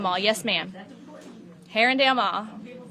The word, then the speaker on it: Arundel: How about how do people from here pronounce the mall? Ha- Arundel, Herondale? Herondale. Herondale. The Herondale Mall. Yes, ma'am. That's important. Herondale Mall.